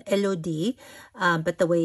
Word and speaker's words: Elodie: It kind of like melody, but with an IE at the end, but without the M in the front as well.